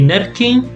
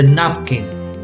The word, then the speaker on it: napkin: You don't say napkin, you say napkin, because it's closed, yeah?